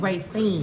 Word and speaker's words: Racine: That's how it's pronounced? Racing. Racine. It's a Racine. Racine Street.